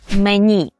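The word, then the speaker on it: menu: Записуємо мен, так, але вимовляємо мені. Е, що тут є незвичне? Ну, по-перше, ми бачимо у, а вимовляємо і. А по-друге, наголос є на останній склад, що не властиве польській мові. Правда? Бо за правилом наголос падає на передостанній склад, а тут ми все-таки кажемо мені. Але поляки мають і своє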